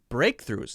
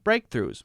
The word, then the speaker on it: breakthroughs: a pretty long word now let's see how many syllables mm-hmm hmm breakthroughs mm-hmm breakthroughs mm-hmm oh my god are you telling me that that only has two syllables yes that's right so